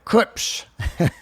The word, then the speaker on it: Klipsch: And that's how you say it, by the way, Klipsch.